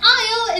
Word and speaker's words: aisle: particularly tricky one because two of those have a sneaky silent s in them if you saw these written down you probably wouldn't guess that they're all pronounced the same way an aisle is a passageway between